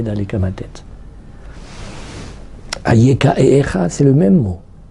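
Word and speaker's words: אַיֶּכָּה: aussi c'est Alf yudf et la différence elle est dans la prononciation parce que il y a trois petits points en dessous du youud quand ahem il me parle aeka il y a trois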